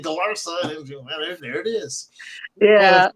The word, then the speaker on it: Galarza: Galarza. Or if you'd like to pronounce it the Anglo way, it's Galarza.